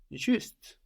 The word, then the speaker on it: juste: provoke him, no, is juste. J-U-S-T-E. So spelled just like the English, but with an E on the end to let us know to pronounce that final consonant.